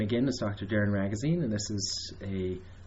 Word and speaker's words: Ragozzine: My name is Dr. Darren Ragozzine, rhymes with magazine, and I'll be leading the discussion today.